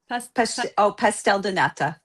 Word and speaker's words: pastel de nata: How do you say it singular? Pastel de nata.